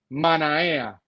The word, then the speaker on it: Manaea: Se escribe Manaea, pero se pronuncia Manaea.